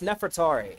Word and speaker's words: Nefertari: And I've seen different people try to pronounce her name and and it's like everyone seems to be getting it wrong. I have no idea why, but it's Nefertari.